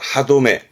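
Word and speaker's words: 歯止め: 그래서 발음이 그렇죠. 하도메, 하도메.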